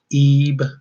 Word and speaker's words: EB: EB pronounced Ebe E.